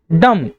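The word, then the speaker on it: dumb: थंब डम। तो जो बी है वो साइलेंट होता है।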